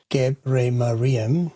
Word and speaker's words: GebreMariam: Interesting note, in Ethiopian naming conventions, his surname is pronounced GebreMariam. That's actually his father's first name and you would technically address him as Mr. Tewolde.